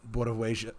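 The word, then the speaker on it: Białowieża: olga she's a local activist she left um bialoveja there we go with the pronunciation she left bialo of asia when she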